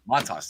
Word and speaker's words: Montas: Montas, thank you.